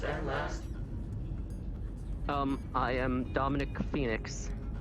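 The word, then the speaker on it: Fenix: I am Dominic Phoenix. Spell that last name for me, please.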